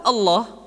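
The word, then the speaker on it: الله: Lafaz Allah dimanapun kapanpun, maka lam yang terdapat pada lafzul jalalah tersebut mesti ditebalkan.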